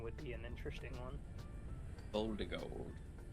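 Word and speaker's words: Voldigoad: Voldigold, like Voldemort.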